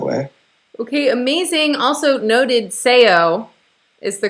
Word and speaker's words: Sejo: just evolved that way okay amazing also noted sayo is the correct pronunciation i want to say oh it right